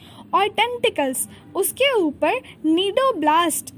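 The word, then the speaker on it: cnidoblast: कहते हैं ठीक है अब नीडो ब्लास्ट का स्पेलिंग देखो सी और आई दी ओ बी ल ए एस टी मतलब साइलेंट है यहां पर नहीं दे दिया हमें भी देखो सी साइलेंट है तो सी देखिए नहीं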